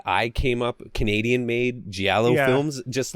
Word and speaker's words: giallo: And the Giallo movies are so you could tell the fucking.